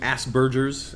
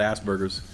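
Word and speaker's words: Asperger's: the spectrum of autism asks Burgers as it's being pronounced I used to call it Aspergers um I want to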